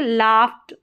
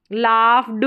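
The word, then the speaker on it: laughed: ट का साउंड आएगा ये लाफ्ट लाफ ड नहीं बोलेंगे लाफ्ट ट का साउंड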